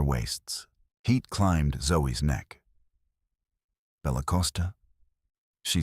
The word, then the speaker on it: Bella Costa: You'll say Bella Costa with a soft C and no extra vowel. Not Bella Costa. Bella Costa.